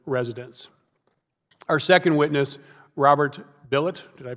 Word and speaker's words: Bilott: Our second witness, Robert Bilott, did I pronounce that correctly? Bilott, excuse me.